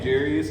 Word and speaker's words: Jarius: My name Jarius is made up of 6 of the most beautiful letters in the alphabet. You can't say it right. Tell them Darius with a J.